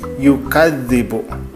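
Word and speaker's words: يُكَذِّبُ: Nah, misalkan di sini ada contoh yukadz, ada penekanan di situ ya, yukadzibu. Nah, dibacanya jadi yukadzibu. Saya ditekan di kadznya itu.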